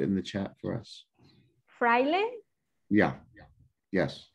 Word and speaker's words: fraile: Can you help us spell that or write it in the chat for us? Fraile?